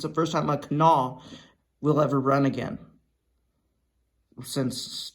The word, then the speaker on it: Kanawha: Because the W is silent.